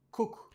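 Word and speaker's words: 国: Lecture sino-japonaise, Koku. La capitale se prononce Kyo.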